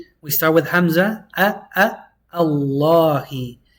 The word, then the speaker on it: اللهِ: Allah is the only time the lam is pronounced heavy.